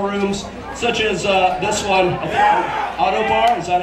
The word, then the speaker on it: Ottobar: Auto Bar, is that how you say it? Auto Bar?